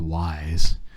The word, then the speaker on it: Weis: like we shop regularly at Weiss apparently it's pronounced Wise Wise Market yeah it's Weiss it's wise [